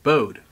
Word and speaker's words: Bode: Brandon says it's in hard II at the end of bowed to syllables rhymes with grody so bode instead of bode yeah you know I've